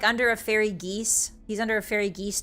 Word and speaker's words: geas: I know you meant geese, but I'm imagining fairy geese. Yeah, I think it's pronounced geese, right? G-E-A-S, like code geese.